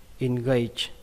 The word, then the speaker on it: engage: Từ này các bạn đọc là engage, engage. Nó kết thúc bằng âm chờ các bạn nhé. Âm chờ đây, âm chờ rung, nó không bắn hơi nhiều.